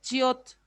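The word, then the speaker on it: 치읓: La che, esta che es nuestra, la che de chavo, ¿ya? De chavo, de choclo, esa che es. Y es chiot, chiot, chiot, chiot.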